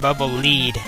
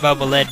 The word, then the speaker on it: Bubble Lead: I think that Bubble Man's weapon is actually supposed to be pronounced Bubble Lead, as in follow the leader after its utility function, since it goes out in front of you and detects hidden floors.